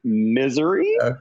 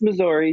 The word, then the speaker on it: Missouri: Some people might pronounce it misery, but it's Missouri.